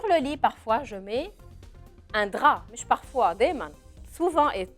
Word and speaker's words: drap: كمان فيه حرف بالاخر ما بنلفظه mais ce n'est pas le T, c'est un P. un drap.